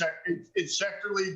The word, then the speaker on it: Schechterle: Schechterly? Yeah, well, I sent it to Courtney phonetically. Yeah. So she's got it. I know she does. Yeah, it's Schechterly, but is the but way to go.